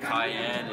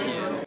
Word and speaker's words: Cian: So I was between Cayenne and I had no idea it was going to be Cian.